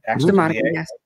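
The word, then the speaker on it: Zumárraga: We have a bishop, Zumarraga, I believe you said, that's proper pronunciation. Zumarraga, yes.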